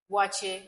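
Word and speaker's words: waakye: Wache, Wache, yes, that's how they wache pronounce from it.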